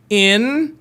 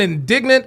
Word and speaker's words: indigent: Say it with me. Indigent. Indigent. I've heard indignant. I've heard indigenous. It is indigent.